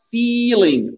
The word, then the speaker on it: feeling: Feeling. Donc, c'est là. Soumia, là, faut bien allonger le I.